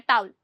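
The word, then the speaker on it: towel: ध्यान रखना यह जो ऊ है ना यह बहुत जल्दी बोला जाता है। तो ये इतना सुनाई में नहीं देता है। टाउल।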